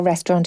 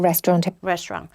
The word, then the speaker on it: restaurant: We've had a very successful 2 months since our restaurant opened. 레스토랑. 얘는 꼭 발음이 짧아. Very successful 2 months since our restaurant 레스토랑으로 그대로 가겠습니다.